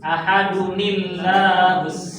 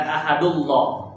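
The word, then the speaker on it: أحدٌ الله: Ahadunillahus somad. Bukan ahadullah, tapi ahadunillah yang tanwin.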